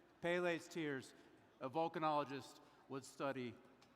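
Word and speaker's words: Pele: I just I asked just asked uncle Google how to spell how to pronounce it and they didn't say pelle but anyway pale's tears a vulcanologist would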